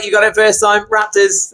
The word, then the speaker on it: RXPTRS: They try to pronounce it correctly, but it's a RXPTRS. Yeah, you got it first time. Raptors.